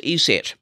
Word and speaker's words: ESET: TGs is covered anyway I'm told it is ESET and I got this and put it on